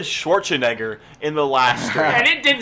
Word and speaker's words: Schwarzenegger: Schwarzenegger. Schwartz, like from Spaceballs. The Schwartz. Egger. Neg. Jaeger? Yeah, sure. Schwartz and Jaeger?